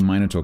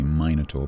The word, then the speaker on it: minotaur: Uh so to answer the minotaur question more seriously uh there are two pronunciations uh in British English uh I think most people would say minotaur but minotaur is also acceptable to most people I think apparently if